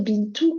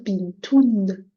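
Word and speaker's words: بنتٌ: Du coup, on va plus dire bintou comme avant. Là, on va dire bintoun.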